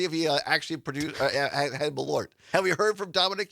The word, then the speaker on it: Malort: and no, this is it's spelled differently than merlot. It's m a l o r t and it's pronounced Malort.